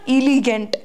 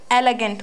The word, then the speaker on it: elegant: And yes, one more thing, which is the pronunciation of elegant. It is not elegant. It is elegant. Was it? What is it? Elegant. It is not elegant. It is elegant. What is it? Elegant. It's not gaint.